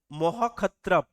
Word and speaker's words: মহাক্ষত্রপ: একে বলা হয় মহাক্ষত্রপ, MAHAKSHATRAPA, মহাক্ষত্রপ।